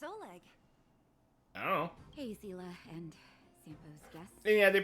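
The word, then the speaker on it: Seele: Hey, Zila and Zo's guest. Yeah, they pronounced her name Zela. Uh uh which is correct because that's how uh the that's how that word is uh pronounced in German and not like sale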